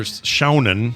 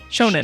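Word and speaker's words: shōnen: It's or Shounen. Shoji. Shounen. Shonen. Shonen. It's shonen. Shonen. Shonen. Shonen. Yes. Like Shogun, but That's shonen.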